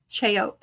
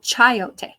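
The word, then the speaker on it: achiote: I I feel like I want to look up K chote. I don't even know. How do you pronounce it?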